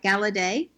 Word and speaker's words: Galaudet: Now, Devin, I'm going to see if I can say it right, Galaudet, yes?